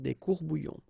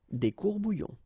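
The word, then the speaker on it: courts-bouillons: Un courbouillon, and then if you want to put the plural form, well, same rule, S, S, you don't pronounce it, des courbouillons. Un courbouillon, des courbouillons.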